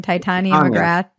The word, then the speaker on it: Titania McGrath: Titania McGrath? Titania, yeah. I always mispronounce it.